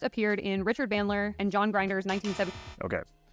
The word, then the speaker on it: John Grinder: in Richard Bandler and John Grinder's 197 Okay. John Grinder, not John Grinder.